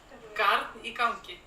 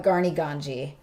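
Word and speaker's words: Garn í gangi: Because I want to call it Garni Ganji, which is not correct.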